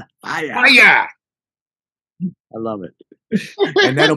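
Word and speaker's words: Fiyah: It's called Fire. And it's spelled F-I-Y-A-H. Fire.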